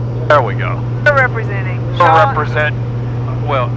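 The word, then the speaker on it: Jaean: We're representing Shawn. It's Shawn, but it's spelled some weird way, like J-A-E-A-N.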